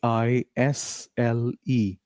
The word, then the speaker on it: aisle: A i s l e. It is pronounced as isle.